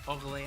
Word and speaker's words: Orléans: Your calumnies against House Orléans. I pronounce this the French way because it's a French last name.